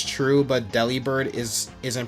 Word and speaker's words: Delibird: Yeah, Delibird. Yeah, Delibird. Yes, the deli in its name does come from deliver, but it's pronounced Delibird.